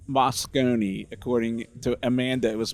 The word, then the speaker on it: Moscone: We're back at HumanX here at the Moscone Center, and it is pronounced Moscone. According to Amanda, it was Moscone, but now we got it right.